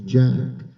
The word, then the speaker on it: Jack: Well, one lady thought I was saying that my first name was A Y. It's not. My first name is Jack and I go by and I signed officially.